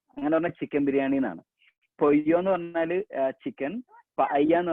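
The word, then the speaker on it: pollo: എല്ലിന്റെ കൂടെ വേറൊരു എല്ലും കൂടെ വന്നു കഴിഞ്ഞാൽ സ്പാനിഷിൽ അതിന്റെ ഉച്ചാരണം മാറും, യ് സൗണ്ട് ആവും. ഫോർ എക്സാമ്പിൾ ഞാൻ അവിടെ പയ്യ ദെ പൊയ്യോ, പല്ല എന്നാണ് നമ്മൾ ശരിക്കും ഇംഗ്ലീഷിൽ അത് വായിക്കുക, പൊല്ലോ എന്നാണ് ഇംഗ്ലീഷിൽ അതും വായിക്കുക.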